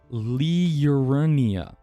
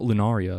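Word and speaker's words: Liurnia: I'm saying it wrong it's l i u r n i a Leia I just want to say lunaria it's not lunaria at all but that's sounds way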